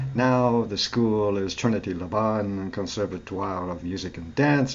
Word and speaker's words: Laban: Trinity Laban, yes. Oh, Laban, thank you. Laban's See? a rhyme with carbon.